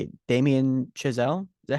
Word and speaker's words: Damien Chazelle: It is now officially, I think this is how you say it, Damien Chazelle.